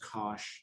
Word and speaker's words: cosh: So in terms of math, and we use the notation, as I said, Cosh, so this is pronounced Cosh of x.